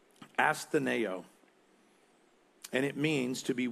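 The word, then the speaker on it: ἀσθενέω: James uses for sick is a word that's pronounced astaneo and it means to be weak feeble without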